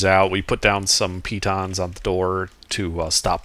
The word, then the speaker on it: piton: we put down some pitons on the door to stop them from being opened. Is that really how you say it? I've been saying Python. Apparently it's French.